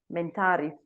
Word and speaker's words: MENTARI: will go to Chandra why did you start mentality that's how it is pronounced what drives you what motivates you what's